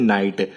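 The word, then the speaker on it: knight: इधर नाइट के ऊपर आपका के साइलेंट कर दिया गया है यह वर्ड अगर आप पढ़ेंगे ना तो यह बनता है नाइट तो आपका के साइलेंट है के नहीं पढ़ा जाता इस वर्ड के साथ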